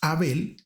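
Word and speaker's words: הבל: Por otro lado, el nombre hebreo Ebel, que en español nosotros lo pronunciamos Abel, significa vapor o soplo y denota evasión, vacío, falta de sustancia.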